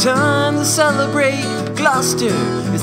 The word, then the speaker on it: Gloucester: Gloucester is not pronounced Gloucester. Don't drop your R in the word Gloucester.